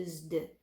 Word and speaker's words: used: Use, S com som de Z, o E é mudo, som de D para o ED. I used, né?